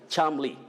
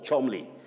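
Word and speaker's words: Cholmondeley: somebody once told me so many letters were wasted in that name when you pronounce it you just say charmly with the mid central sound uh charmly or chomli and then the next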